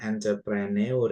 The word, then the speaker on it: entrepreneur: Tulisannya entrepreneur ya. Tapi U yang di belakang ini enggak usah dibaca, bukan entrepreneur ya.